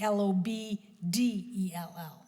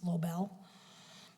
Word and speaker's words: Lobdell: complicating to people so it should be lob de ll instead of just low bail thank you so what